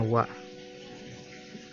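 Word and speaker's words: は: Ini dibacanya H ya, tapi beda ceritanya kalau untuk predikat, jadi dibacanya wa.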